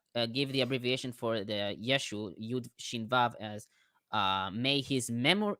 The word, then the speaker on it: Yeshua: closest because it's Hebrew I don't think Jesus is the right pronunciation right no it's Yeshua Yeshua and in Greek it'll